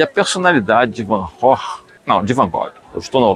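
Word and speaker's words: Van Gogh: A pronúncia não é essa. Chegar na Holanda e perguntar sobre Van Gog, as pessoas vão te olhar de forma um pouco atravessada. A pronúncia certa desse nome é Vanor. É isso aí mesmo que você ouviu.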